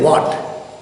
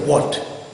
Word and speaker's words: what: Okay, we don't say what, but we say what. The W is pronounced by rounding up the lips and throwing the breath out of the mouth.